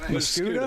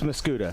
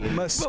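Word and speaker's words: Muscoda: Is that right? Muskota? It's Muscuda. Yeah. See, I screwed up again. Muscuda. But we like it. We like it when you do Muscuda, Muscata, tomato, tomato.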